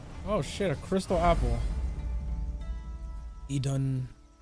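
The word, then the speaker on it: Iðunn: Edun. How do you pronounce that? Ethun. Ethun. I think that D is like a th sound. Ethun apples. Maximum health increase. Oh, sweet. Yeah, they said Ethun.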